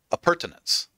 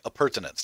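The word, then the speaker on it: appurtenance: said anything yeah the pronunciation of that word that I that I butchered app pertinence okay a pertinence that's how you're supposed to say it got it okay but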